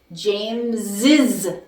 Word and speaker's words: James's: okay, S and Z, you need to add an extra syllable, okay? So here, James, when I want to say James has a phone, I say James's phone, James's, okay? I have to add the extra syllable when I put that apostrophe or that apostrophe S.